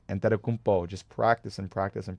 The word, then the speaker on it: Antetokounmpo: Don't you love how I pronounce that? I love saying his name, Antetokounmpo.